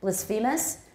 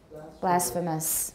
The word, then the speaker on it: blasphemous: word a lot actually blisphemus but we say now blasphemous blasphemous next two um